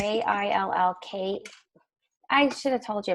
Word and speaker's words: Jill Keuth: It's Jill Keuth is actually how you pronounce it. Apologies. It's Jillk.